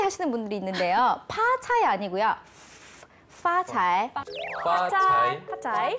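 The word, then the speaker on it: 发财: 한국어 발음은 이 피읍 발음이 되게 구분이 안 되는데요. 우리 영어에 그 F 들어가는 뭐 있죠? 뭐 father, fighting 했던 그 느낌으로 파차이. 파차이.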